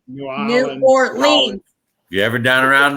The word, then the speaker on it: New Orleans: I'll tell you what, if you're ever down around New Orleans, and I said it right, Howard, Nolans. New Orleans.